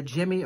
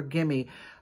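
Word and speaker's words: Gemmy: And so if you guys know anything about vintage Halloween animated items such as Gimme or G-E-M-M-Y Industries, I think it's pronounced either Jimmy or Gimme.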